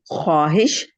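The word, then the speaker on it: خواہش: सफे के नस सवाल ख्वाहिश जन्नत न सवाल खवाहिश खवाहिश वाव साइलेंट है नस सवाल खवाहिश जन्नत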